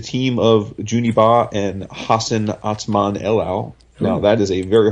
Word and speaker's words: Hassan Otsmane-Elhaou: But I'm pretty sure it's Hassan Otsmane-Elhaou.